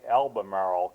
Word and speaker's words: Albemarle: It's Albemarle, Albemarle County, Virginia.